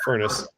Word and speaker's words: Furnus: hell, written by John Furnus, which I found funny. Not spelled like a furnace, but still nevertheless furnace.